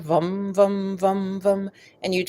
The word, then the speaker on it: vam: I have the sound, which is vum, vum, vum. It's sort of it's spelled VAM, but it's sort of a rounded sound, vum, vum, vum, vum.